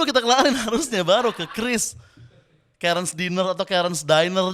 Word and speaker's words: Kris: Bank Indonesia mengeluarkan statement bahwa Kris itu dibacanya Kris bukan Kyris dan bukan Kiris gitu.